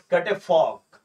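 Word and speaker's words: catafalque: तो a wooden framework that supports the coffin during a funeral, है ना, तो उसको क्या बोलते हैं बच्चे, कैटेफॉग, कैटेफॉग, है ना, एल इसमें साइलेंट रहेगा, एल इसमें साइलेंट रहेगा।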